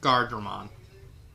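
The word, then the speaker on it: Guardromon: How do you spell it? Gar? G-U-A-R-D-R-O-M-O-N. Gardromon.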